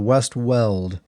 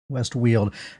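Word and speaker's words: West Weald: a new Zone called the West weld or no West wield it's the it looks like well but on the stream they pronounced it wheel w l d whe yeah West wheel directly west of cidel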